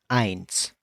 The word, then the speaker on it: eins: We're going to start off with 1, which is eins. Eins.